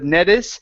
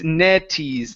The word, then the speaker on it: Nettie's: Okay, make sure to pronounce an E instead of Nettis. It's Netties.